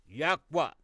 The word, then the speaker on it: YHWH: The reason why we use YHWH which we pronounce Ywa the four letters.